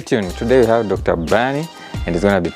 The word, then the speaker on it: Bernie: Then, mine is Bernie. It's almost like you're saying Bernard, but you say Bernie.